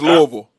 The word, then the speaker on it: Louisville: Remember, it's Louisville.